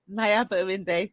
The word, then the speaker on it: Nayaba Arinde: Welcome again to another edition of NetStruc Talks, and I have the beautiful Nayaba Arinde. Did I pronounce it right? Nayaba Arinde.